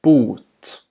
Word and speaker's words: bot: This word has a long vowel, Bot. and it means cure.